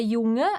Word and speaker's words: Junge: Quando nós temos um NG e um E, a gente não diz aqui Junge.